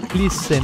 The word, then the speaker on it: fließen: Tiene un sonido de doble S, de dos S en alemán. Por ejemplo, en fließen, fluir.